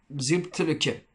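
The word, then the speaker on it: Mxyzptlk: Vas-y, essaie de le prononcer avec moi. Xiptelke. Monsieur Xiptelke.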